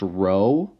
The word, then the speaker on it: rho: Okay, so this symbol here is pronounced rho, okay, but we just use the letter P, and we can honestly call it P.